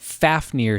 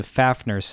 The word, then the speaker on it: Fafnir: dragon legs horribly inconvenient I'm also giving it Fafnir sex as opposed to faff nurse axe because I like Fafnir better and that's how they say it in got a war yeah I are instead